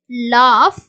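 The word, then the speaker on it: laugh: வந்து ஜியும் ஹச் யும் சோ ஜிய யும் ஹச் ம் வந்து சேர்ந்து வர்ற இடங்கள்ல fோட சவுண்டு இஃப்ன்ற சவுண்ட் தான் நம்ம வந்து கொடுக்கணும் அப்படின்ற மாதிரி சொல்லி இருக்காங்க ப்ரொனௌன்ஸ் லைக் எப் எஃப்ோட சவுண்ட் மாதிரி நம்ம ப்ரொனௌன்ஸ் பண்றோம் எக்ஸாம்பிள் டஃப் லாப் ரஃப் டிராஃப்ட் சோ இங்க எல்லாமே இந்த ஜியும் ஹெச் சேர்ந்து வருது பார்த்தீங்களா ஜி கூட ஹச் வந்துச்ச இடங்கள்ல எஃப்ோட இஃப்ன்ற சவுண்டுதான் நம்ம வந்து கொடுக்கிறோம் சோ இது அடுத்து இருக்கக்கூடிய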